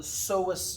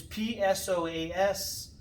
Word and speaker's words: psoas: side is called the psoas major it's p-s-o-a-s but the p is silent as in the psychiatrist so that is the